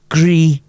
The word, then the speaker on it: Gris: I really like the soundtrack to Gris, to pronounce it correctly.